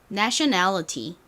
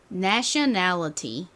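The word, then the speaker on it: nationality: 듣고 따라해 보세요 내셔널 미국식 발음은 전에도 설명드렸던 것처럼이 티를 t 읏으로 발음을 안 하고 이렇게 리을처럼 좀 굴려서 발음을 하는 경우가 굉장히 많아요 저희 ㄹ로 굴리는 거는 조금 더 어려우니까 t 발음을 좀 살려서 다시 한번 해볼까요 다시 한번 따라해 보세요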